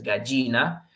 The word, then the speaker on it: gallina: Ale, la gallina, no, la gallina, okay, gallina, ya, ye, gi, yo, yu, entonces gallina. Tenemos el pato, tenemos el búho, acento en su U.